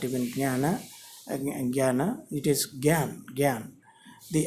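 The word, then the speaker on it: ज्ञान: Sanskrit, true Sanskrit, Sanskrit, it is written like jnana, using this gna. This is, though it is pronounced as gna, this is not gna. It is actually ja with any, that stress. So that is jnana. This is jnana. This should be ideally pronounced as jnana.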